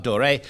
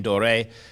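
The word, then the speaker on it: Doré: So we've been looking at all week at Gustave Dore. Now, let me clarify something. Dore is something that, for some reason, he has become known by the last name Dore.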